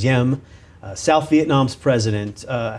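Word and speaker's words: Diệm: last name is spelled D IEM it is pronounced ym South Vietnam's president uh how did he come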